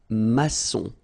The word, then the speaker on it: maçon: Here you can see that we've got this little cédille beneath the C, okay? And it just means that you will pronounce this C as S, okay? So that's the reason why. It's un maçon. Son, okay? O-N in your nose, nasal, un maçon, all right?